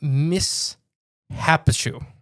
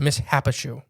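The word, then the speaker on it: Mishipeshu: The Miss Hapishu. The Missappue. That seems all right. That's how it's spelled. Like mish happens to you. Yeah. Miss happens or the great lynx or the great water dragon.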